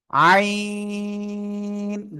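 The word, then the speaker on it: عين: গলাটা চেপে এক আলিফ, দুই আলিফ, তিন আলিফ, চার আলিফ টেনে উচ্চারণ করব। আইন, জাস্ট এই যে একটা বাঁক হবে।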